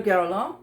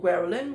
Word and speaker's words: Guerlain: So, another one another Guerlain perfume or Guerlin whichever you prefer to pronounce it.